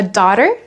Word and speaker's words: daughter: I have a daughter, j'ai une fille. Attention à la prononciation. Le G et le H sont silencieux. Daughter. Daer.